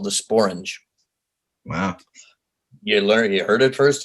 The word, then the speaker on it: sporange: There is a word that actually rhymes with orange, you know. Well, it's called sporange.